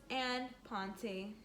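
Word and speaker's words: en pointe: but one day we will that is called imponte you say it like this and ponte so look nancy and her friend bri go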